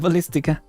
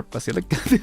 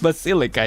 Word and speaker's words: Basilica: Here is even more awkward than the Ballistica. Or Basilica. They say it wrong again. Basilica, yeah.